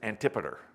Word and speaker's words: Antipater: father's name was antipater it's spelled antipater but it's antipeter that was his father